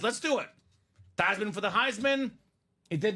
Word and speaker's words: Theismann: your family name is Thiesman. We know you've been Thiesman all your life. Let's change the pronunciation of your name to Theismann so we can say Theismann for the Heisman.